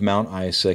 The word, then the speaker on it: Mount Isa: The small town of Mount Isa can be seen on the horizon. Page 6. Yoshi, you have to pronounce it like a Z or a Z for you.